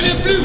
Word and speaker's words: les Bleus: Allez les fous, allez les bleus, allez les bleus. Ouais. Les bleus, c'est the pronunciation, my friend.